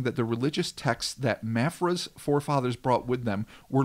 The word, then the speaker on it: Mafra: Florida Georgia line is Santa Catarina, okay, where in the city of Marfa. See, I'm saying it wrong already. Perfect. Mafra.